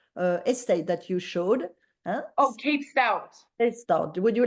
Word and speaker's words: Cape Stout: Like cape is like as in like a superhero wears a cape, and stout as in a beer.